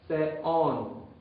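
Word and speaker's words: θεόν: Entonces, eso indica que son dos sílabas separadas. Y se pronuncia ambos la letra epsilon, tal como la letra omicron.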